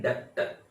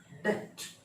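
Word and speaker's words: debt: तो हम लोग इंडियन वाले मोस्टली हम लोग बोलते हैं डेप्ट, डेप्ट एक वर्ड नहीं है, बी साइलेंट है, उसको डेप्ट बोलते, कुछ लोग बोलते हैं डेबिट बोलते, सब गलत है। इसको डेट, डेट, इस वर्ड को डेट बोलेंगे, वो डेप्ट नहीं है, बी शब्द नहीं है, इसको डेट।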